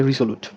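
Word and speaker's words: resolute: সে সমঝোতার ইংরেজিটা হচ্ছে কনসিলিয়েটরি কনসিলিয়েটরি এরপরে হচ্ছে রিজলুট রিসলটার ইংরেজি উচ্চারণটা হবে রেজলুট রেজলুট রেজলুট মানে হচ্ছে দৃঢ়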